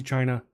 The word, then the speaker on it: Qi: Like the chi chargers or even like Yeah. Like the wireless chi chargers, it's spelled ki or qi.